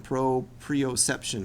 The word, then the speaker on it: proprioception: t i o n Pro preoception I looked it up because I was saying it wrong last week so I learned how to say it correctly so that was that